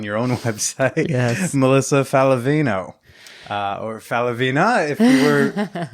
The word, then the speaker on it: Faliveno: So the Italian last name should be pronounced Falivena, but of course, when my grandparents came to the States from Naples, they decided to pronounce it Faliveno.